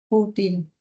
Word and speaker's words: fútil: En la palabra sutil está bien, la sílaba tónica es til, pero en f la sílaba tónica es fu. Por tanto, ¿cuál es la que debo tildar? ¿Esta sutil o la fútil? Futil.